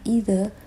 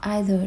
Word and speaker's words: either: Cái chữ either này mình có hai cách đọc, mình có thể đọc là either hoặc either đều đúng.